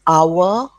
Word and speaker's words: hour: vowel, we use and an is also used before a noun that starts with a silent H, like hour, okay, then heir to the throne, and what else starts with H?